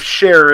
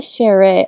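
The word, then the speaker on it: Shera: Yeah, I was pronouncing Shere, like Shere. So like Shere. As opposed to share, which seems like it's missing something. Share.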